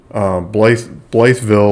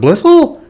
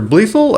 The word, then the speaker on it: Blytheville: Every time I call the people in this town, they correct I say Blytheville or something. They said Blissel or Blethel.